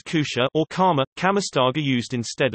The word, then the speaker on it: kutja: pronounced as kusha or kama, kamastaga used instead of apparently.